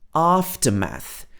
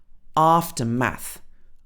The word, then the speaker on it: aftermath: said aftermath here aftermath so this has got two vowel sounds got r and ah after math after math but if it's pronounced in the american accent you can hear the host said it it was aftermath it's actually the same sound aftermath but in british english two different sounds after math okay so